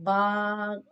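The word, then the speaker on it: باء: Now ba, on it khada zabra ba. This is pronounced on the what part of the both lips ba then ba kada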